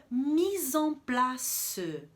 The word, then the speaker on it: mise en place: Do mise en place, eu vou falar, então, da pronúncia do EN, EN. Se o IN é mais abertinho, mais fanho, o EN vai ser mais fechadinho. E para a gente pronunciar direitinho, a gente vai fazer uma boca redonda. Então, a gente diz mise en place, tá? Sempre fechadinho assim para ficar bem bonito.